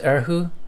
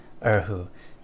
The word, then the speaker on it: erhu: But if I could play it's pronounced erhu? Okay. If I could play that, I would love it, because that's my favorite string instrument. Okay, Kanasaki, you also say it's pronounced erhu.